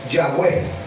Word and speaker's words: Yahweh: que no tenía vocales como no tenía vocales era un tetragramatón era difícil de pronunciar sin embargo le colocaron unas vocales para que nosotros la pudiésemos pronunciar ejemplo Yahweh oh Jehová okay Bueno